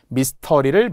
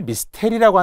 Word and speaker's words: 미스터리: 미스터리를 미스테리라고 하는 분들이 있어요.